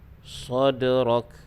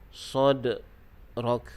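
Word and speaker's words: صدرك: Cara bacaan dia, kita lantunkan bunyi dal tersebut. Sadrak, sadrak. Jangan kita berhenti. Sadrak, itu salah. Caranya dengan kita lantunkan bunyi dal secara sederhana.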